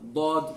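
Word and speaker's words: ضاد: Now I got somebody asking me, some say that it's okay if you pronounce the Dhaad like a Va, for example, or that you can pronounce the Dhaad with the tip of your tongue against your teeth. This is incorrect.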